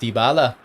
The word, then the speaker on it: Dybala: It's pronounced Dybala. I'm going to say Dybala.